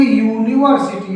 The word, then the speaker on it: यूनिवर्सिटी: जबकि जब इसको पढ़ेंगे तो इसको बोलेंगे यूनिवर्सिटी यानी यू से स्टार्ट हो रहा है यूनिवर्सिटी। यूनिवर्सिटी तो यहां पर क्योंकि यू से स्टार्ट हुआ है इसलिए और यू हमारा व्यंजन है हिंदी का इसलिए यूनिवर्सिटी से